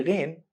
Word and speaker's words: Ghein: Just make a vibration in the top section of the throat and push some air out. It will be Ghein.